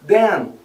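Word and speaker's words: then: quando eu tô falando o den de então a gente termina com n e aí eu termino mais sorrindo den Então essas são dicas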